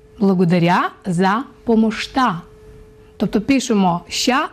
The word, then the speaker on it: помощта: Благодаря за помощта. До речі, ось ця буква «ща» в болгарській мові вимовляється як «шт». Благодаря за помощта.